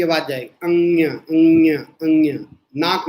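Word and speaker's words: ङ: Dash लगा के लिखो का, ख, ग, घ, अंग्या।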